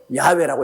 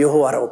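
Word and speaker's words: 야훼: 교회도 모름 적이 어 성경에도 야외라고 이름을 정화하게 그대로 기록해야 돼요 왜 여호와라고 불러요 실제 하나님 승호가 야외인데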